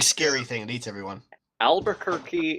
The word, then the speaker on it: Albuquerque: Albuquerque is the only word pronounced with a key as a Q-U-E.